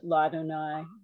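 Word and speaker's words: לַאדֹנָי: did not um remember that that would be pronounced ladonai so it makes sense but hey is adonai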